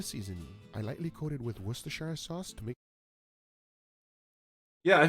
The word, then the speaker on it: Worcestershire: So it's Worcestershire. It's Worcester, and then it's Shire. So it's Worcestershire.